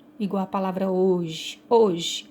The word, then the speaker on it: hoje: Então, a letra H não é pronunciada, tá?